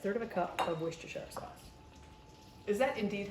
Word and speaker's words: Worcestershire: Yep, third of a cup of Worcestershire sauce. Is that indeed how you pronounce it? Worcestershire. It all depends on who you ask. You could say, some people say Worcestershire sauce, Worcestershire, Worcestershire, Worcestershire sauce.